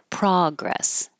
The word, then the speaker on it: progress: And if this is a noun, then the stress is on the first syllable, progress.